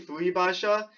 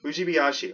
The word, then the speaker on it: Fujibayashi: So I keep saying Fuibasha, even though it's Fuibashi. You can clearly see the I there.